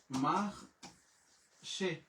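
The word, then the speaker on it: Marseille: যে ও আকস আছে উচ্চারণ হয়ে গেল কি মাহ সে এখন অনেকেই বলবেন ভাই তাহলে মাক্সে বলি কেন মাক্সে বলি এই কারণে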